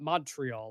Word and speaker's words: Montreal: Not Montreal, like we say. It's Montreal. They emphasize at the end of the word.